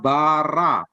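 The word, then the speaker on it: ברא: Jadi kata bara, dibacanya bara gitu maksudnya.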